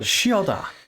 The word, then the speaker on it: Chioda: I wanted to go with a ch, but I was like, no, it's Chioda. Chioda.